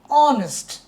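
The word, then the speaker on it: honest: প্রথম অক্ষর কিন্তু কনসোনেন্ট কিন্তু সাউন্ড দেখো অনেস্ট শুরু হয়েছে এখান থেকে এইচটা সাইলেন্ট যেহেতু অ এটা একটা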